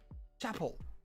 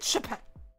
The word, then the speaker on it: Chappell: Chapel. I said Chappelle.